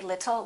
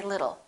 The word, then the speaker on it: little: It'll rhymes with the word little. We don't say little, we say little.